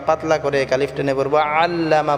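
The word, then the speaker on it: عَلَّمَ: করে আলিফ টেনে পড়বো আল্লামা বলতে আমরা আইন টাকে গলায় চাপ দিয়ে উচ্চারণ করব প্রত্যেকটা আইন আমরা ইনশাআল্লাহ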